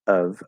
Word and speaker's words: of: because normally so the the full pronunciation of the word of is the the schwa uh which could even be the upside down v if it's really clearly enunciated uh of of and with a v sound it's spelled with